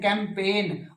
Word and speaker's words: campaign: और कैंपेन, अभियान चलाते हो ना, तो CAMPAIGN, कैंपेन, और गै साउंड बोलते नहीं।